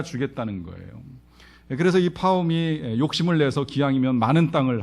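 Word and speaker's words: Pahom: 옛날 러시아의 한 농부 파음 뭐 바음이라고도 발음을 하는데요이 농부는 원래 이제 남의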